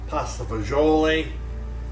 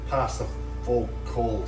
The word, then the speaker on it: pasta fagioli: the italian my grandmother used to say is pasta vasu what the italian americans call it pasta fagioli i think the americans say pasta full cold some stupid thing um what you're going